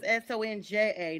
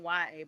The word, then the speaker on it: Sonja: And and my name is Sonja, not Sony.